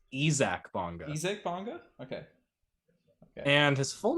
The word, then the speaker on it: Isaac Bonga: that's my take now on basketball reference they have his phonetic pronunciation as ezac bongo okay okay and his